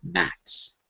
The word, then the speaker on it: gnats: Is the G pronounced or silent in the word gnats? No, it's silent. It's silent. And whenever you have a GN, it will probably be silent.